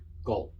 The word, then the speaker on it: جلد: جلد, gold. It sounds like gold.